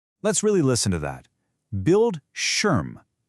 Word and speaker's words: Bildschirm: Bildschirm. The I is short and punchy and that sch sound, it's just like the sch in a word like shoe.